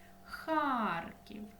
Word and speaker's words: Харків: Одеса наголос на е Харків наголос на а випиши слова назви дерев